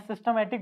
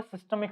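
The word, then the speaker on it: systemic: मैं सिस्टमेटिक बोल रहा था क्या? इसका एक्चुअल जो प्रोनाउंसिएशन है वो है सिस्टेमिक सर्किट।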